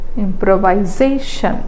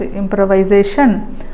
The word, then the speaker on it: improvisation: or dot impro viation improvisation so what will be where will be the secondary stress definitely the secondary stress is on the first second syllable from the beginning improvise improvisation improvisation right next organization organiz